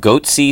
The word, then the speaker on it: Goatse: hats who um who hacked AT&T they're called goaty security is that my pronouncing that correctly yeah that's right and and